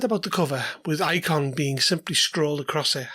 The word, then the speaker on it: IKHON: Released in 2023, IKHON, and yes it is pronounced IKHON, I checked with Johan Noor, is described as a mysterious box, a jail that keeps four almost forgotten gods at bay.